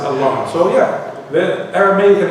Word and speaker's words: Allah: The way he pronounced it is Allah. He pronounced it Allah.